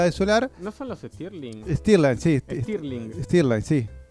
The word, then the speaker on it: Stirling: los motores Skirline sí se usan, es como parecido a la de solar. ¿No son los Stirling?